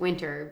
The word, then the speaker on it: Winter: to fix it with winter because we get misspelled or mispronounced. Yeah, we do. Winter. It's like, well, I am a winner, but it's winter.